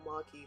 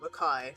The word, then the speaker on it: Maki: It's Maki. Or Maki, whatever you want to say, I don't care how people say it. As long as it's not Makai, because that's definitely how you fucking say it.